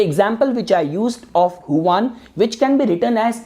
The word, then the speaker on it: Juan: as Huan, so Huan, you might spell your name as Juan, but it is pronounced as Huan.